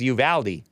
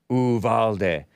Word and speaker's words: Uvalde: First, there was Uvalde, the anglicized pronunciation commonly accepted by locals.